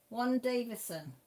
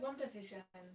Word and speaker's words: WandaVision: Oh, WandaVision. Oh, sorry, Mel. You said Warren Davison. Did I? Is that what I said? Yeah. Oh, sorry, I no. was like, who's Warren that? Davison. WandaVision.